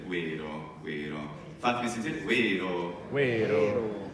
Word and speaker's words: vērō: Allora, facciamo un altro esempio, la V è una doppia V in inglese, praticamente, vero, vero.